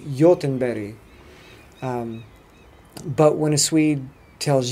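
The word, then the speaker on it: Göteborg: it a bit but the G is a Y and the G at the end is another y so it's like Jochen Betty but when a Swede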